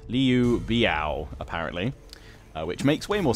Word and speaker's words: Liu Biao: Also, massive thanks to everyone that was correcting my pronunciation on who I was calling Liu Biao. It's Liu Biao, apparently.